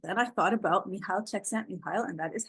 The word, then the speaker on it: Csikszentmihalyi: But then I thought about Mihail Csikszentmihalyi, and that is how you say his name.